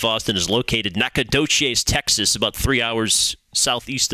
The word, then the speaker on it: Nacogdoches: minute ago where stephen f austin is located nacogdoches texas about three hours southeast of dallas that